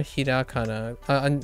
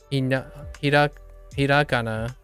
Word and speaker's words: hiragana: Let's do a little bit more hirakana. We got to do hirakana. Hiragana. I keep saying kana.